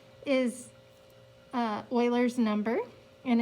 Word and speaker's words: Euler: was from switzerland and he spoke german and the way that you pronounce his name in his native tongue is euler leon hard euler is